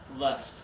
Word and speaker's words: left: but then this one we're gonna keep our teeth together left really good I see it and I hear keep those teeth together you left so am